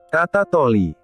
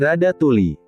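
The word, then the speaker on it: Ratatouille: Hasilnya, Ratatoli. Ratatoli, Nay. Ngarang banget jadi Radatuli. Itu bacanya mirip.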